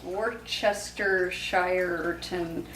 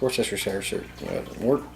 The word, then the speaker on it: Worcestershire: How do you pronounce Worcestershire sauce. Worcestershireton sauce. About a good. No, you're saying it wrong. It's Worcestershire.